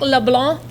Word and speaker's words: LeBlanc: Did I say LeBlanc. it right? No C, and you have to say it with a capital B in there, too.